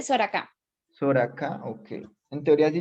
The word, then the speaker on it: Soracá: Soraka, profe, es que tengo el audio como cruzado. Ok, si pronuncié bien tu apellido, es para no seguir llamándote mal. Se dice Soraka.